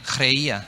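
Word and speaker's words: χρεία: necesidad la palabra necesidad en griego es creía con che chreia así se pronuncia y dice tener o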